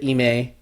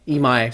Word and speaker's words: Imai: more can you say kota ime imai sorry i've been pronouncing that wrong kota imai's design the